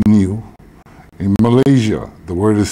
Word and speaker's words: niu: the linguist says that the word for coconut in Hawaii is spelled NIU pronounced new in Malaysia the word